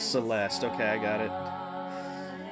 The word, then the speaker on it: Celeste: Celeste. It looks like it should be pronounced the least, like with the e at the end, but it's Celeste.